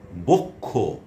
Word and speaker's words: বক্ষ: এবারে আসুন শেষে বা মধ্যে যদি বসে, শেষে বসলে যেমন বক্ষ, কক্ষ, ক খ এর মতো উচ্চারণ হচ্ছে ক্ষীয়টা।